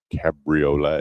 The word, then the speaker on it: Cabriolet: It's called the Cabriolet. Yeah. I went, really? That's it. Really? Well, I stand corrected in how I pronounce that, but it's still what I had.